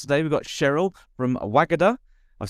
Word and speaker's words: Wagada: on the podcast today we've got Cheryl from wagada I've said it right this time haven't I